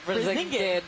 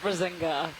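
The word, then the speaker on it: Brisingid: Yeah, it's Brazingid, not Brazinga.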